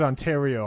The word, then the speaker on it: Ontario: Uh we pronounce it Ontario on this side.